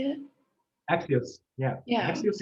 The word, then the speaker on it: Axios: Is it like Axios? Is that how you say it? Axios, yeah, Yeah.